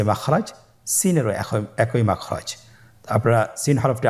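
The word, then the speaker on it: سين: Scene হরফটি বারিক হরফ পাতলা করে উচ্চারণ করতে হবে। তাহলে আমার সাথে বলুন সিন। আবার বলুন সিন।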